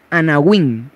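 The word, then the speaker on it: anawim: Yahvé, que son los anahuín. Eso lo anoté ahí, pero ahorita se los puedo escribir. Anahuín, así como se escucha, se escribe Ana y Win con W. Anahuín.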